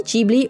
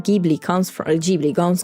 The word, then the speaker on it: Ghibli: airplane that the name Ghibli comes from is an Italian airplane, and GH in Italian is pronounced G, so it's Ghibli, not Ghibli.